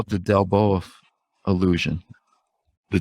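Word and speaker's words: Delboeuf: And they call it the Delboa illusion. The Delboa illusion? Do I have that pronounced right?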